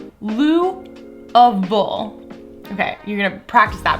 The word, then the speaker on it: Louisville: Broken into 2 sections, we're Lewis and we're Ville, right? But they say Louisville. Louisville.